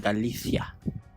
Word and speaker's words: Galicia: Galicia.